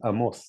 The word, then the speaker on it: Amos: Well, just as a side note, my name is Amos, not Amos, Amos. sorry, you're Oh, right. sorry. Yes. Okay. And It's like Ivan and Ivan, or yeah, yeah, I mean, yeah, it's Amos. It's just the Hebrew pronunciation.